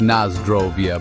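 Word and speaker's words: na zdrowie: different distillation methods and the proper way to pronounce nazrawi it's Naz drovia by the way so grab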